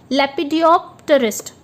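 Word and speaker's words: lepidopterist: आगे है, चलिए दोस्तों इचिथियोलॉजिस्ट के बाद अब हम नेक्स्ट वर्ड पढ़ते हैं, that is in front of you, that is लेपिडियोप्टेरिस्ट।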